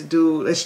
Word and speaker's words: Duality's: duality's boutique i know the name may be hard to pronounce but it's duelish look she know i'm